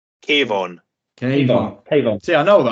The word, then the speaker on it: Kayvon: Kayvon.